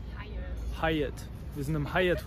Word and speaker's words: Hyatt: Wie wird es ausgesprochen? Hyatt.